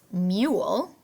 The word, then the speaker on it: mule: So first I notice mule. Let's stretch it out like bubblegum. M-U-L. Remember, long U can say U or oo. So this one makes the U sound in the middle.